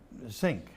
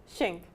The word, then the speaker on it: Zink: Zink. Did I pronounce it right? Shink. Shink? Think shink. Think Shink. That's it. Think Shink. Shink.